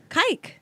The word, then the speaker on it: kike: It rhymes with bike. Or dyke. I can say that when I fuck women. Yes. Kike. Yeah, that's the K word.